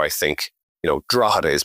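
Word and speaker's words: Drogheda: I think you know draada is pronounced you know so you go in and say well pronounce draada but don't pronounce the G right so we define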